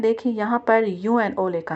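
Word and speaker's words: UNO: और जो यहां यूनाइटेड नेशन ऑर्गेनाइजेशन से लिया है उसको हम यूएनओ प्रोनाउंस कर रहे हैं।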